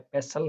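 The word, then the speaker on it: pestle: वो वर्ड आप लिखोगे, आगे 5-10 वर्ड और लिखोगे तो आपको पता लगेगा कि यहाँ पर क्या है, टी अपना साइलेंट रहता है। कासल है, पेसल है, पेसल वर्ड होता है।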